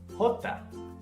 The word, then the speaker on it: jota: Jota. Jota. The J sound that you're used to in English doesn't really exist in Spanish. Instead, this letter is pronounced as a soft H, like the letter K.